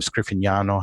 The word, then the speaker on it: Scriffignano: My name Scriffignano has a GN sound in it, the nya, that's not an English phoneme. So when I tell people how to say it, I say, well, say lasagna, because you already know how to say that, right?